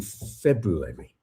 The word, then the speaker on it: February: I I the February the the extra R in February really annoys me because it's there so you've got to pronounce it but when you pronounce